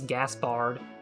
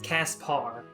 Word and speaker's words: Caspar: is caspar i keep i want to say his name's gaspard but it's caspar casper casper caspar whatever